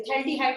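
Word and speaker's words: phthalaldehyde: इसमें P और H silent है, ये थैल्डिहाइड होगा इसका कॉमन नेम।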